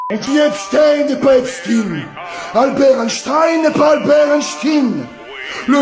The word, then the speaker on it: Einstein: Pour info, Einstein était allemand donc c'est normal qu'on le prononce à l'allemande Einstein.